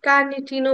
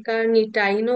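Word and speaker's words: carnitine: এটাকে কার্নিটিনও বলা হয়, অনেকে কার্নিটাইনও বলে। জাস্ট একটা হচ্ছে আমেরিকান অ্যাসেন্ট, আর একটা হচ্ছে ব্রিটিশ প্রোনাউন্সিয়েশন, যার যেটা ইচ্ছা দুইটাই বলা যায়।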